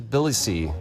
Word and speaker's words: Tbilisi: Welcome to Tbilisi.